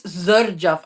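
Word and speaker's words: Xerjoff: from it's Zerjaf. I was saying it wrong. It's not Jerjaf, it's Zerjaf. Yeah, I say Okay? Zerjoff. A lot of Zerjaf.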